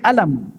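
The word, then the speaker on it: ألم: huruf mim Alif lamim tapi kita tak baca alif.lam.mim kita baca alam alam taro Kaifa fa'ala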